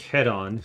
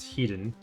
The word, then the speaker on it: Hedon: And I think Head On, which really should be pronounced Hedon.